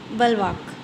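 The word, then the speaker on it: bulwark: Next है बलवाक। अब इसका भी प्रोनाउंसिएशन लिखा है मैंने, बलवाक।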